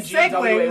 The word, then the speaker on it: segue: You I actually you did- made the segue less of a segue by announcing that Okay, it's a now segue.